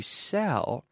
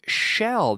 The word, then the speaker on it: sell: So you have to be careful with the word sell, the verb to sell, and say sell, not shell. There is no H in this word.